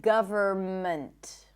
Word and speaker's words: government: The N is silent in the words hymn, not hymn, condemn, closing my lips, ending with an M, autumn, and government.